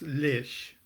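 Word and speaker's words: Leitch: his last name so I've always said it's Lish l-e-i-t-c-h but please I'm sure you'll correct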